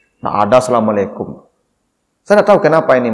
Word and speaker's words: Assalamualaikum: Tapi Assalamualaikum tu jangan Assalamualaikum antu yo je ndak. Assalamualaikum. Kancang bacanya Pak Ibu dak asa-asa bunyinya lah.